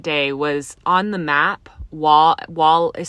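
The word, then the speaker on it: Waugh: Wall is spelled W A U G H.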